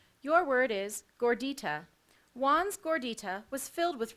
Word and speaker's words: gordita: from Latin to Spanish gordita any alternative pronunciations the alternative pronunciation is gordita dor d ITA gordita that is correct that